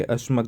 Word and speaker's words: अश्मक: को हम डिलीट करेंगे अश्मक जैसे ये अश्व जैसे जैसे प्रोनाउंस हो रहा है।